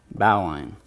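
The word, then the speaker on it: bowline: line hitch and then bow line which is pronounced the correct way alright so again square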